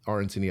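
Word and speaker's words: arancini: definitely take a second to to look RNC up because they're really good. It's spelled A R A N C I N I.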